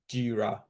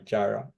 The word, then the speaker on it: Jira: mention here, okay, is the word G-I-R-A, Jira, okay? I think you actually mispronounce it as Jara, like Jehovah Jireh. So, but yeah, it's Jira, okay? So, yeah, I know it, maybe America will have pronounced it like that way because they're, but it's Jira anyway.